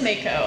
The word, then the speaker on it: Mako: So it is Mako.